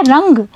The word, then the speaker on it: रंग: हो रहा है, और जब आप रंगा बोल रहे हैं तो चंद्र बिंदु की जो ध्वनि है वह नाक और मुंह दोनों जगह से निकल रही है।